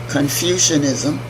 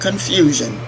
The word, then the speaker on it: Confucianism: also an integration of Confucianism not confusion confucius Confucianism and Taoism representing complementary